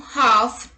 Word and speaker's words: half: L is not pronounced after the vowels A, O and U. Let's look at the examples. Calm, half, talk, walk, would, should, could, calf, salmon, yolk, chalk, balm.